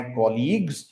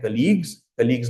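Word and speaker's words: colleague: उन्हें कहते हैं कलीग्स बहुत से लोग इसको मिस प्रोनाउंस करते हैं कहते हैं कलीग्स नहीं होता कलीग्स I have lunch with my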